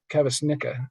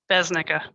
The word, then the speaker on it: Kavasnicka: Kavasnicka. I'm guessing I said that right, but I may have mispronounced. Besnicka.